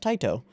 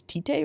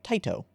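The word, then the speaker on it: Tite: is Taito Cobo which I didn't know was pronounced tight oh I went and looked that up because I wasn't sure I thought it was tea day or teitei but it's not it's it's pronounced tight oh and if you don't know who that is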